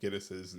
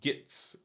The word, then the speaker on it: Gittes: Noah Cross would mistakenly say Gitz, which for his character being this rich pompous jerk is insulting. It's insulting when someone mispronounces your name, but uh, felt right for the character itself. And on the day they added a couple lines about when Jack Nicholson's character was like, no, it's Gittes, not Gitz.